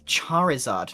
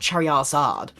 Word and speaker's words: Charizard: It's Charizard, not Chariad.